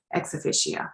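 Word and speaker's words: ex officio: because of their office i think you pronounce it x officio let's see if we can hear how it's pronounced exofficia that's correct so because and i'm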